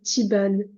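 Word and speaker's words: طيبًا: Vous l'enlevez, mais si vous perturbe, et vous lisez Tiban, Tiban. Vous prenez juste, vous, les deux fathas qu'il y a au-dessus du alif. Le alif, vous ne le prononcez pas. Tiban, Tiban.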